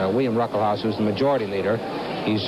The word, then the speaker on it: Ruckelshaus: behind the Republican William Ruckelshaus. The first S in his name is pronounced, it's silent. William Ruckelshaus, who's the majority leader, he's just 35 years old.